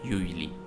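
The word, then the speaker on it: usually: कर जाते हैं आपने इस वर्ड को पढ़ना है यजली और इसका मैनी है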